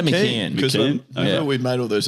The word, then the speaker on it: McCown: Or someone else helped me pronounce Emma McCown's last name. I'd say McCann.